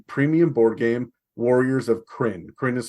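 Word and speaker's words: Krynn: paired with the premium board game Warriors of crin print is spelled k-r-y-n-n that is the world on of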